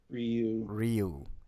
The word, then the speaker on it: Ryu: Ryu and Chun-Li are coming to the game next month.